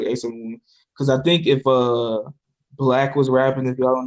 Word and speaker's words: 6LACK: I feel like 871, because I think if Black was rapping, if y'all don't know Black, he spelled his name basically like Six Lack, and it's 6LACK, but it's pronounced Black.